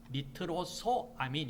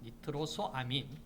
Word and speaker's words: 니트로소아민: 니트로소 아미인데 이걸 지금 니트로 소의 오를 빼버리고 아 몸이 두 개가 겹쳐지니 이걸 빼버리고 니트로 3인이라 이렇게 발음을 하는데이 정확하게는 사실 니트로사민이 물질은 없어요 니트로소아민 있니다 자 니트로소아민 자 이게 왜 니트로소